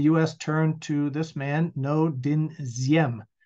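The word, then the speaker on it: Ngô Đình Diệm: turned to this man no din ziem it happens to be pronounced like a z who was Yemen was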